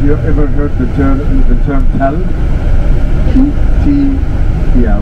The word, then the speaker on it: Tel: Yeah, we pronounce it Tel with an A, but you may find it written with an E in some places, Tel, because the archaeologists who work in the tells, they pronounce it as Tel usually in their dialect. But in the local dialect, it's spelled with an A, like written like T-A-L, Tel.